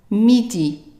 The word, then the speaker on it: midi: next word here so if you know that the I is pronounced like an i in midday midday how would you pronounce the next word right midi midi now we are going